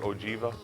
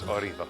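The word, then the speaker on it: Órgiva: oriva that's o r G IA some people pronounce it oiva but it's oriva so I'm looking forward to this trip meaning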